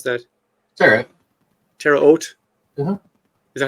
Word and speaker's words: Terre Haute: The program included a command center at Deseret Test Center in Utah, a production facility in Terre Haute. How do you pronounce that? Terre Haute?